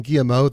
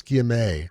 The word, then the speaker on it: guillemet: It's not, I'm saying guillemot. That's actually a kind of bird. It's guillemet.